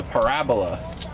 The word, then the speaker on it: parabola: You say something is parabolic, but it's a parabola. You put the wrong emphasis on the wrong syllable.